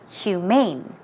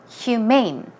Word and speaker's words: humane: It is pronounced humane, humane.